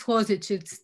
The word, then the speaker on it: Hodžić: It is Hodžić. It's not Hodžić.